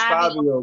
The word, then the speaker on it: Fivio: Yeah, I thought it was Fabio. But it's spelled F-I. It's spelled F-I-V-I-O. It's Fabio, bro. Fabio.